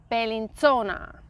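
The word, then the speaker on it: Bellinzona: there okay next one this one okay I pronounce it balintona bellinsona it has really wonderful castles there medieval castles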